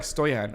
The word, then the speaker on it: Stoyan: So you can say it like Stoyan.